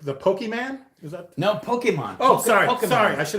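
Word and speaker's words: Pokémon: done my homework okay people say pokey and they get a kind of e but it's pokemon pokemon yeah the that's actually how it's the actual pronunciation pokemon pokemon yeah pokemon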